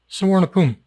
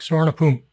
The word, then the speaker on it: Suvarnabhumi: Suvarnabhumi. That's the airport, Bangkok, Suvarnabhumi.